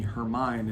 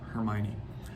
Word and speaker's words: Hermione: and german reading skills i was pronouncing hermione her mind in my head until it just clicked all of a sudden that no it's hermione and what hermione represents